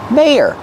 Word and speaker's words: mayor: Use a long a like say and day. May your second syllable is the sound like burger. And we have to link these two sounds with y like in yes and yellow together. May your mayor.